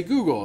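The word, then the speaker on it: googol: Because if you know the history behind Google, like when I was a kid, we would say Google. That's the number with 100 zeros after it, right? And that's spelled G-O-O-G-O-L.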